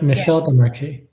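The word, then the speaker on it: Michel Desmarquet: Michael Dez Morqu French French Michelle de Marqu okay Michelle but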